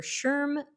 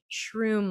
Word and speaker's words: SHRM: and it qualifies for sherm pdu credits shrm they pronounce that sherm i always want to say shroom like mushroom i hear that would